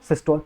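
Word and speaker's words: systole: देखो मैंने आप लोगों को सिस्टोल और डायस्टोल पढ़ाया था, जैसे हम लोग सिस्टल पढ़ते हैं ना, ठीक है, सिस्टोल अच्छा प्रोनाउंसिएशन नहीं है, सिस्टल बोलते हैं उसको, ठीक है, सिस्टल और डायस्टोल।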